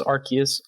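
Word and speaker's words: Arceus: who pronounce it this arus I do say arus I know the I know the root word I know Pokemon official says archus I don't care I think it sounds silly I like to say arus and you have any uh hot takes on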